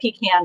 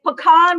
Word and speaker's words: pecan: my goodness yeah okay it's pecan when you pick them and pecan no pecan when you pick them pecan when you sell them so oh my